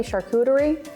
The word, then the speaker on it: charcuterie: Are we saying it correctly, charcuterie? Absolutely. This is technically a modern charcuterie board. Charcuterie is the French word for cured meats. So this is a cheese and charcuterie board, but yes, you're spot on with your pronunciation.